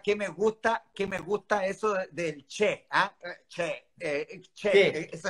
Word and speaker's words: che: Claro, porque el che es distinto, se escribe con C de casa e.